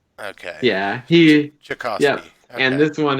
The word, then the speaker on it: Tchaikovsky: The T is silent. Okay. Yeah, Tchaikovsky.